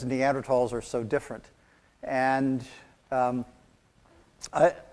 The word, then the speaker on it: Neanderthal: early and one late neanderthal site the first neanderthal was found and by the way it's neanderthal the h is silent and has been silent since 1903.